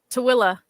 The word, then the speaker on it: Tooele: Toel. What about you, AJ? Something similar. Kale's got us. Tuel? Tooele.